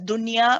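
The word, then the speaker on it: دنيا: The word ad-dunya is one of the exceptions which means that you don't merge it. You pronounce the noon nice and clearly. Okay, there are 4 words: dunya, bunyan, sinwan, and qinwan.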